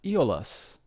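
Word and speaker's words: Aeolus: are all good oh it's pronounced uh eolas greek god of the wind hey that's awesome that's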